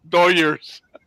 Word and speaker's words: Doyers: Los Dodgers, and it's just remove the middle D for a Y, and you'll get it, dude. Doyers.